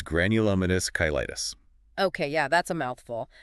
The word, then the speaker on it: Granulomatous Cheilitis: mystery with a name you might need help pronouncing you know I love a good challenge late on me it's granulous kytis okay yeah that's a mouthful but it sounds